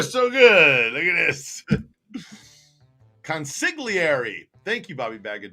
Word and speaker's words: consigliere: Consigliere. Thank you, Bobby Bag of Donuts. Not sick. Sig. Consigliere. Okay. Consigliere. Consigliere. Bobby, the G is silent in that word.